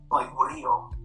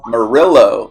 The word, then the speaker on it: Murillo: Rio. So at least that's the way that I'm like to pronounce whenever I'm with family or in Mexico or whenever I'm with my grandparents.